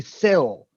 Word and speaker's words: Syl: actually, he's still trying to figure out why we call him Sly, because his name is spelled S-Y-L, not S-L-Y. Seal. It should be Sil.